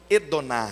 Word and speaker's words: Adonai: que não primeiro que senhor em hebraico é Adonai o ou talvez a pronúncia aí mais próxima do original e donar bom então se não